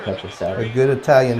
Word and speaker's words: Petrocelli: Petrocelli. Announcer said Petrocelli. A good Italian name. He said Telly Yeah. because he doesn't know the C is a Chi.